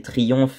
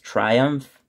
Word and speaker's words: Triumph: y avait Triumph ou les Français vont prononcer Triumph mais en vrai ça se prononce Triumph euh il y avait